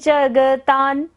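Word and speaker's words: जगतां: दोषम त्वत्संकतापि जगतान, जगतान, ता के बाद, ता के ऊपर बिंदी है और बाद में क्या आ रहा है, द।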